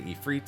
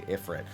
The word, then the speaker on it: Ifrit: I did research and found that Ifrit, again, is a more, I guess, classic way of saying the name.